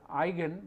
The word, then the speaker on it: eigen: This is pronounced as eigen. This is a German word which means in English something which is characteristic, very special or particular about something.